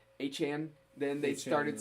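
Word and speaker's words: Achane: Everybody's saying A-Chain, and they got moved to what was it? A-Chan.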